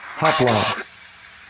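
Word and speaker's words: ὅπλον: trial run comes out all right G 3696 hopl hopl that's how it's pronounced in the Hebrew so any tool or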